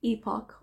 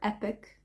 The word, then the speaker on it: epoch: came in during this tranquil Epoch or epic depends on how you want to pronounce it the UK version or the American version so I'll start again